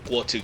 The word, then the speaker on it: Guo: No, Guo, yeah, that's how you pronounce his name.